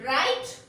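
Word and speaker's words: write: Next, W-R-I-T-E, right? R-I-G-H-T, right. Both we pronounce it as a right only.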